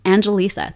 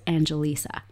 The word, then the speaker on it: Angelisa: your name I have I have such a tricky name Angelisa that's four syllables in my name a lot of people